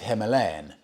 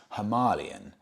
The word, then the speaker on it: Himalayan: brought up on this someone said to me Freddy it's not Himalayan it's halalan so I now have to get into my mind that I've been saying Royal Enfield Himalayan wrong it's actually halalan I don't exactly know